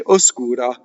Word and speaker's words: oscura: Now, here's a word when you speak. You could say oscura. When you sing, you have to slow it down to oscura. So when you have 3 notes, the S is completely on the second note.